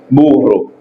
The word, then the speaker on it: burro: Ou qu'à utiliser double R là et sous-prononcer, après c'est double R là ou utiliser perro, ouais, qui a une différence avec R douce là.